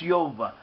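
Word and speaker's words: Jove: the Romans was called job job was properly pronounced Yoba this is also similar to a a possible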